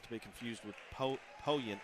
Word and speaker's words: Poyen: Well, and I told him early on, I was like, he said it, and then I said Powen. He's like, well, where'd you get your pronunciation? I was like, from a guy that lives there, 3 on the